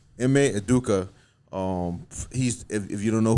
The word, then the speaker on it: Ime Udoka: Ime Udoka. Ime Udoka.